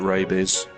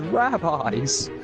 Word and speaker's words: rabies: Yeah, you might get rabies. Yeah. Live action cow. Oh, Live action cow has rabbis. it's pronounced rabies.